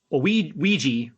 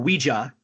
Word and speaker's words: Ouija: Yeah, I was looking at not IMDb, but Rotten Tomatoes top Blumhouse movies, and Ouija or Ouija, depends on how you want to pronounce it, is in the top, I think, 5 or 6 best reviewed movies for Blumhouse.